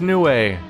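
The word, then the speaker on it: Nue: of battle interesting no hey I was right it's pronounced new way cool I this whole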